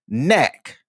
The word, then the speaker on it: knack: know American Sign Language, you don't say the K before the N. It's typically the K is silent.